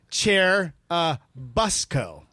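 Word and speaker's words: Churubusco: of course it's pronounced chair uh Busco like a school bus okay cherubusco okay whatever you say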